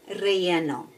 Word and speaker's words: relleno: And today we are going to be making a healthy version of chile relleno. Yeah, you gotta roll your R's.